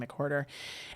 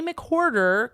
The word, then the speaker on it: McWhorter: And his last name is spelled like hoarder, like a whore, which I find very great. John McWhorter.